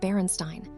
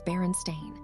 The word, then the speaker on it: Berenstain: You probably read it Berenstein, with an E. It was always spelled with an A, always Berenstain.